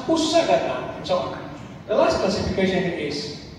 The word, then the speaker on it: unsagatan: Unsagatan, we pronounce usagatan.